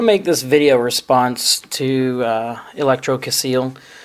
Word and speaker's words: Electrocaseal: user who calls himself Electrocaseal. Hopefully, I'm pronouncing that properly. It's ElectroCaseal. It looks like it would be pronounced Electrocaseal.